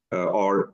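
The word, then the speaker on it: og: I completely erased 12 years of education, so not And enough. in Danish it's O. Oh, Yeah. E-O. is it written just an O? There's O-G, but the G is silent.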